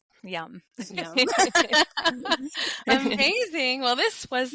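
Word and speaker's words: यं: It's yum. Okay. And I think you could just repeat that over and over. Yeah. So it's YAM. It looks like yam, but you pronounce it yum, like yummy.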